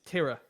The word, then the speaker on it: Tira: By the way, I have been informed that it's Tira, according to chat.